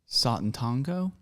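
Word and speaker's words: Sátántangó: All right, we've already mentioned his first novel, which Wes pronounces Satantango.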